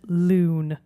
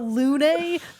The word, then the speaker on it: Lune: Well, anybody, at least we're not the British, and we don't pronounce it loon. This is true. They say Lune in the game, guys.